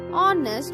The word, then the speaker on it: honest: Honor, honest, both these words begin with the phonic sound O, a vowel sound. Hence we used an honest man and honor because H is silent in these words, and we are getting the sound of vowel.